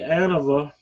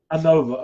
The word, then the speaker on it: Anova: my SED circulator uh I have the anava or the Anova how do they pronounce that Daren Anova okay well at least I'm saying it correctly now um I had before